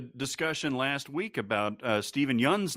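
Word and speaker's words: Steven Yeun: he's like you know you've been mispronouncing my name the entire time and he's like what the man we're friends but it's apparently stephen young and he never corrected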